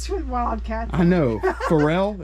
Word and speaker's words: Pharrell: Candace I think that's that Pharrell guy or feral how do you say his name it's not Farrell that's sweet wild cats I know Pharrell it's Pharrell Williams right is that his name okay and